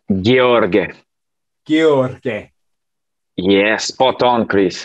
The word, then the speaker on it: Gheorghe: In Romanian, you'll pronounce it Gheorghe.